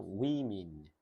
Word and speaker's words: women: 그리고 여자는 woman, 요거는 women, 전혀 달라요. 요거는 woman, 이거는 women. 이렇게 발음을 해야 알아들어.